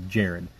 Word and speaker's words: Jared: first make the corrections I mispronounced Jarrod's name I was saying his name is actually Jared it's just spelled with a G so that's kind of a they just assumed it was but I've been corrected